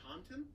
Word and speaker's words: Taunton: And Taunton? in Taunton, Taunton? I mean it's Taunton, Sounds like so like Tauntaun, like I know the it does.